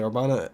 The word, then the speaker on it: Urbana: AIA or avoka wheeler Urbana or arbana orbana think that's how you say arbana in Italy New York you guys